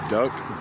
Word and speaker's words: duct: Duck duct tape. where the T is silent because time is important.